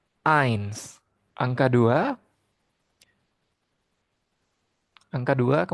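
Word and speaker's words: eins: Angka satu itu ditulis dengan E i N S. Ains angka du angka dua ke mana nih?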